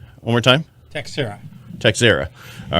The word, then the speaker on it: Texiera: Texiera. One more time? Texiera.